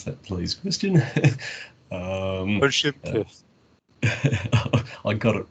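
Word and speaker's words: Olschimke: The Lindstedt and Olschimk, how do I pronounce that, please, Christian? Olschimk.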